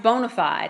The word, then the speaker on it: BONA5D: five D credit consultants it's pronounced bona fide and so if you